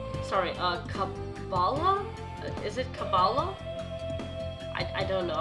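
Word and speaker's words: Kabbalah: of the Mystic sorry uh cabala is it cabalo I I don't know how to pronounce that wait let me check say okay so it's uh cabala cabala the study of the mystical aspects of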